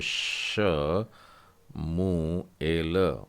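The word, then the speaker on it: שמואל: मतलब पहली पुस्तक है, शिन से शुरू हो रही है और आधा उच्चारण है, मतलब श मू एल, और उच्चारण में होगा शमुएल।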